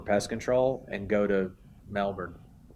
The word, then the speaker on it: Melbourne: as far as the regions, like you've got people that say Melbourne, right? And then you got people that say it right, Melbourne.